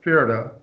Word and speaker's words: Pferde: Pferde, P-F-E-R-D-E, a horse, right?